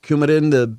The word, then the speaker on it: Coumadin: The Coumadin?